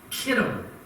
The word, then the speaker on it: Chittim: The answer is verse 34, the ships of Chittim, or as it would be pronounced in the Hebrew language, Kittim, shall come against him.